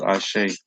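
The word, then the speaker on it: Ase: A M E N is amen. A S E is ashe. Okay?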